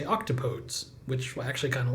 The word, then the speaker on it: octopodes: If we treated it like an English word, we'd say octopodes, which I actually kind of like.